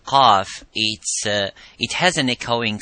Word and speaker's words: ق: So when we pronounce the qaf, we try to pronounce it audibly, and as it is qa, by opening slightly the lips vertically and making that sound and echoing by saying qa.